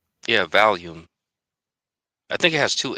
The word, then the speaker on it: Valium: I think I think the drug might be pronounced volume, right? It actually has an A. So I think it's val like V A L I. Like Val. Yeah, Valium.